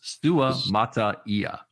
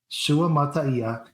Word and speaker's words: Suamataia: It's 6 symbols. Six syllables. Suamataia. Suamataia.